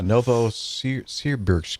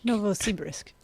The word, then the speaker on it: Novosibirsk: Yeah, Novosibirsk. Novosibirsk.